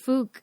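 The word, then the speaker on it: Fuck: guy no I don't in like in Brazil it's pronounced Fook and he's like not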